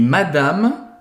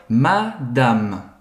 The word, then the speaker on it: madame: então primeiro de tudo a pronúncia a gente não Fala madame não existe essa nasalização é Madame madama madama madama e geralmente aqui quando a gente está falando é uma pronúncia mais da vida real esse ano final ele é tão discreto que a gente quase não escuta bom suor Madame estamos